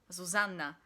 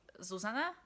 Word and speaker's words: Zuzanna: say in Slovakia, but there's also a character called Zuzanna, and with Polish pronunciation, it's supposed to be Zuzanna, but in Slovakia we don't have 2 N's, so I say Zuzanna, and I don't know how good that is.